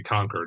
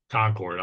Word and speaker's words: Concord: conquer has excuse me let me say conquer that's the right way to say it not Concord conquer has it but